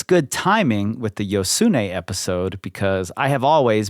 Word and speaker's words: Josune: how you pronounce it well I found her saying it so it's yosun that's how she says it just in case you